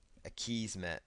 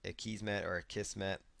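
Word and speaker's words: Akismet: And then there's going to be another plugin here called a Kismet or a Kismet, depending on how you want to pronounce it.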